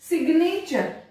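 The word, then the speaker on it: signature: सिग्नेचर, साइन में जी silent है लेकिन सिग्नेचर में जी साइलेंट नहीं है, उसको प्रोनाउंस किया जाता है।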